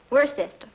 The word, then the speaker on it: Worcester: something else too dark but it's spelled w-o-i-c-e-s-t-e-r we're a sister oh yes I see yes Lord Worcester um tired if I